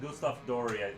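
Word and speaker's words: Doré: goo Gustaf d i I say adori but it's Gustaf Dory I think I'm pretty sure I'm saying his name wrong um so let me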